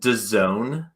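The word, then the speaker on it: DAZN: stupid name uh it's it's spelled d-a-z-n so it's pronounced the zone and it's this streaming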